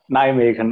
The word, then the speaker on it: Nijmegen: Russia, and obtained her PhD from University of Nijmegen, if I'm saying it right. Anna, just correct me if I'm wrong. Nijmegen, okay.